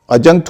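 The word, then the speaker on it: adjunct: अजंक्ट होता है जोड़, उसमें भी डी और जे है लेकिन उच्चारण नहीं है।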